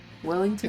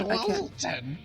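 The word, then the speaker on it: Weselton: Is it Weaselton? Wellington? It's Weaselton. Weaselton.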